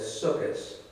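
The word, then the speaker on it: Sukkot: holiday is celebrated under the Jewish name of sukas it's spelled s-u-k-k-o-t and it's pronounced in Hebrew as sukis it should be pointed out that the holiday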